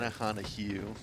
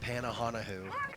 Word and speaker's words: Pannuhuone: Panahanu, not Panahanoo.